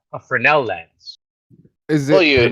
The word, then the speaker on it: Fresnel: Is it Fresnel or Fresnel? Fresnel. Fresnel. It's spelled Fresnel. Fresnel, but it's pronounced Fresnel. Fresnel, pronounced Fresnel. Yeah, it's just a magnifying